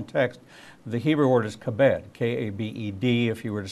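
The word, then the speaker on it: כבד: In the original text, the Hebrew word is kabed, K-A-B-E-D, if you were to spell it out in English.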